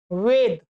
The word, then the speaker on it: वेद: वेद। मैं सही उच्चारण कर रहा हूं, आप किसी को पूछेंगे